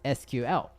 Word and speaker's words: SQL: honorable mention number three Seco with some people pronounce as SQL if you search for what programming language to learn you might run across on an article to that mention sequel but if you're beginner